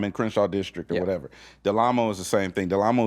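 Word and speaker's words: Del Amo: Do I pronounce the L or not? Yes. Okay. Delamo. Delamo.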